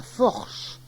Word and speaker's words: forche: Che au lieu du se français. La forche pour la force.